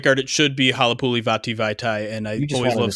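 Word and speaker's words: Halapoulivaati Vaitai: Halapuli Vaitai. The best way to say it correctly, and you'll never say it wrong, is to sing it to Play That Funky Music, White Boy.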